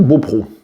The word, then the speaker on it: Beaupréau: blog Touraine Sereine, que le nom de cette commune s'écrit Beaupréau avec un E accent aigu, mais que ça se dit Beaupro, apparemment.